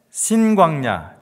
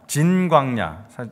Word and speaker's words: 진 광야: 보면은이 바란 광야와 그다음에 신광야 진 광야 좀 더 정확한 발음은 광야라 그래요 진진 그래서 바 와 진광